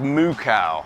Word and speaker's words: Mukau: So, this is Mukcow. May not look it, but that's how it's pronounced.